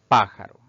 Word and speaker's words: pájaro: veamos ahora los ejemplos tenemos la palabra pájaro si dividimos esta palabra en sílabas Pues notamos que tiene tres sílabas al pronunciarla nos damos cuenta que la mayor fuerza de voz recae en la antepenúltima sílaba contando de derecha e